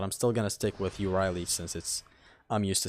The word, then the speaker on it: Euryale: Which, by the way, in Greek, if there's any Greeks in the chat right now, I think it's pronounced Ithriley. Ithriley. At least that's how I heard Zim pronounce it.